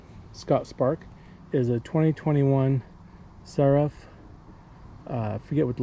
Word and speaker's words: Seraph: to replace that Scott spark is a 2021 serif I forget what the letters are but the model 78 and it's spelled s-e-r-a-p-h um it took a while to